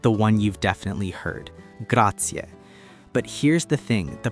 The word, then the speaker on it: grazie: Graatia. But here's the thing, the pronunciation is so important. It's not grati, it's gratier. You really want to pronounce that e sound at the end.